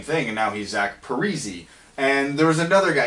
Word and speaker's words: Parise: did the same thing and now he's act Parisi and there was another guy it was the